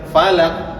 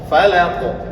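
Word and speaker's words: فلق: Jadi jangan falaq, salah itu cara bacanya. Karena qof memiliki sifat qalqalah. Falaq.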